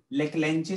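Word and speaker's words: Leclanché: इसका एक और भी नाम है ड्राई सेल को, हम लेकलेंचे सेल भी बोलते हैं, लेक लेंचे सेल, ठीक है। लेकलेंचे की स्पेलिंग है LACLANCHE सेल, ठीक है।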